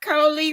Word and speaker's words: Coley: So I always say, hey, Coley rhymes with goalie.